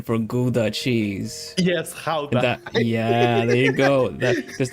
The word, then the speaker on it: Gouda: And of course, Gouda cheese, going to Kinderdijk, on your feet.